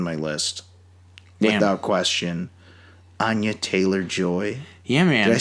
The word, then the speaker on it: Anya Taylor-Joy: Anya Taylor-Joy.